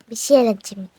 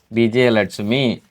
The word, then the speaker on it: விஜயலட்சுமி: விஜயலட்சுமி. விஜயலட்சுமி. விஜயலட்சுமியா விஜயலட்சுமியா? விஜயலட்சுமி. Right. நான் சொல்லி தரும்போது உச்சரிக்கணுமா? அது எப்படிங்க? கிட்ட வச்சுக்கோ. பி ஜே ஏ ல இட் சு மீ. விஜயலட்சுமி.